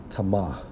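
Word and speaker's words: טָמֵא: Now, when we focus on defiled, according to the Hebrew, it's Strong's H2931, pronounced as tama, right?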